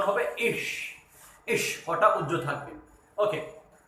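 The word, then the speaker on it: ich: ইশ শব্দটার মানে হচ্ছে আমি, শব্দটা হচ্ছে রস্যি হ তালিবা স, অর্থাৎ উচ্চারণ হবে ইশ।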